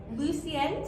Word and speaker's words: Lucienne: Lucienne, did I say it right? Yes.